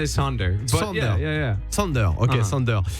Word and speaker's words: Sonder: Is that how you pronounce Sonder? I say Sonder.